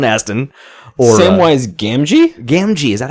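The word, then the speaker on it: Gamgee: say so Sean Aston or same wise gamji gamji is that how it's pronounced yes okay I clearly watched those films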